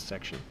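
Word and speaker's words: §: By the way, someone asked, that symbol, S with a circle through it, means section. It's pronounced out loud as section.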